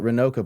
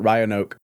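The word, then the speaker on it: Rynoka: Not going to lie, I didn't pronounce it Renoka before. I used to pronounce it Ryionoke.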